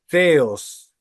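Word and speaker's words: θεός: Pero la otra, la que tiene la rayita arriba, se lee Theos. O sea, se escriben igual, pero se leen distinto.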